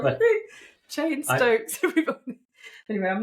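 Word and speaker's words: Cheyne-Stokes: So, I've I just pronounced it Cheney Stokes, but it's not called chain stoking at all. It's not. It's called chain stokes. That's what you said like the name chain stokes is an abnormal breathing pattern.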